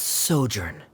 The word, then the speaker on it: sojourn: is everything clear director's osimos how do you pronounce this word let me see Ah that's sojourn it means to stay for a while this